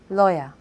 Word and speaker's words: lawyer: Lawyer. You should call your lawyer. Summer. Summer is my favourite season. So in teacher, lawyer and summer, we had the schwa on the second syllable.